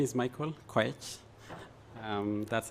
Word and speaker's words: Koech: So my name is Michael Koech. That's how you pronounce it.